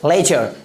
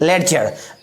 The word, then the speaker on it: ledger: अगला example LEDGER, क्या पढ़ेंगे, लेजर, ना कि लेडजर।